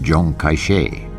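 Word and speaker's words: Chiang Kai-shek: China's nationalist army was led by General Isiml Cheng Kaishek whose name in the Mandarin dialect is pronounced Jong Kaishe.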